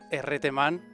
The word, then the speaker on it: herreteman: well the grand pronunciation is actually a reteman but i don't care